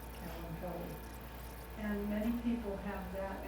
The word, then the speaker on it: Kalanchoe: Now that can be pronounced many ways, but I looked up the pronunciation and that was correct, Kalanchoe.